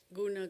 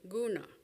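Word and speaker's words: guṇa: So they invented the term gona to indicate in what mode nature was currently appearing. By the way, the word is pronounced with a palatal n.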